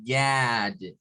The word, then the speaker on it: God: Que en este caso, para decir Dios, recuerden que esta no es una A pura, ¿verdad? Es Gad, Gad.